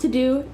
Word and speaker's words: Teuxdeux: This is called To Do. It's spelled in French, so it's Teuxdeux.